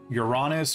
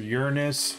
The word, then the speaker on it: Uranus: his dad and uh depending on how you want to pronounce it um uranus or uranus or uh your anus that was uh his